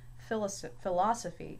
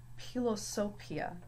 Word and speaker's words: philosophia: So it's again going to have the P sound, not a F sound. So it's not philosophy, it's philosophia.